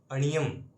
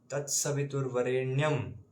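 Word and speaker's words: तत्सवितुर्वरेण्यम्: है फॉर हलंत अ तो स्वः तत्सवितुर्ववरेण्यम कई भक्त पढ़ते हैं अणियम अणियम नहीं तत्सवितुर्ववरेण्यम भर्गो देवस्य देवस्य धीमहि धियो यो न प्रचोदयात ये इसका सही उच्चारण होगा और गलत उच्चारण फल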